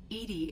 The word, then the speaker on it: EDI: Edie is the phonetic pronunciation of E-D-I. That is an acronym for Enhanced Defense Intelligence.